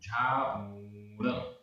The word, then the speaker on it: झाऊण: अज, अज आधा पूरा जा, अज, बी, बी, तिरयणवंता, तिरयणवंता, तिरयणवंता, अप्पा आधा पा पूरा पा, अप्पा, झाऊण, झाऊण, यहाँ पर ऊ बड़ा है, झाऊण, जंती, जंती, सुर लोए,